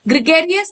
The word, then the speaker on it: gregarious: Gregarious rhymes with hilarious.